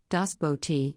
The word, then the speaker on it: Das Boot: Das Boot German pronunciation Das Bo T English the boat is a 1981 West German